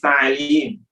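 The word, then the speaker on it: تعليم: Majlis ta'lim, bukan taklim, bukan taklim, bukan taklim.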